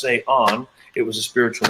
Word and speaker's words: Cé Änn: And all of a sudden they see my name looks like Cé Änn, pronounced Cé Änn.